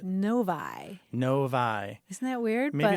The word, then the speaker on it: Novi: that he lives in is spelled no oovi any thoughts about how you might well I don't know na'vi or Novi it seemed like The Logical ones but what is it Novi noi isn't that weird